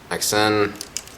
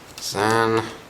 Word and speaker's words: XN: Some people can pronounce it XN. Apparently the official pronunciation is Zan.